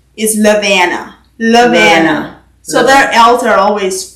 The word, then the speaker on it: Lovina: And then the most common way that they pronounce that name is Lovina.